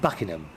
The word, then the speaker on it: Buckingham: went to bucking hat I know how you say it in America Buckingham Palace we say it Buckingham Buckingham Palace there was